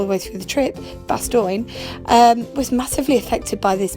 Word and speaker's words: Bastogne: And Bastogne, or as I pronounced it all the way through the trip, Bastogne, was massively affected by this, because something that